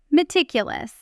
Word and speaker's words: meticulous: In fast natural speech, meticulous about often blends the s of meticulous directly into the a of about.